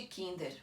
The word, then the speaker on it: Kinder: moro aqui na suíça eu falo de kinder pronunciando esse r no final ok então não só